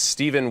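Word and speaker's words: Stephen: the pigtails okay uh is it Steven or Stefan it's it's Steven with a a p h an and then the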